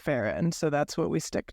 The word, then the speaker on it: Farrand: hers who who did verify that Beatrix pronounced it faen so that's what we